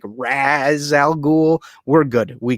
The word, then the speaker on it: Ra's: like pronunciation, and that I think it's pronounced Raz, but it has this Arabic character in it that's called a Raish, and that's why some people call him Raish and not Raz, but it's actually Raz.